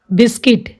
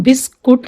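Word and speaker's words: biscuit: Gas, guest, guild, गाइल, guilt, guitar, guard, रोग, टंग, वोग, बिस्किट, इसको हम बिस्कुट नहीं बोलेंगे, बिस्किट, यू इसमें साइलेंट है।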